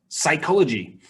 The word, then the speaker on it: psychology: with a C and this one is psychology so here it's made with a p and an S so just remember that